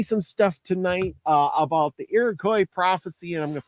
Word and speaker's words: Iroquois: And it's actually pronounced Iroquois. Oh, really? OIS sounds like qua. And actually it was a Canadian woman that taught me that. And she was about the Cree, because the Iroquois are the Cree, the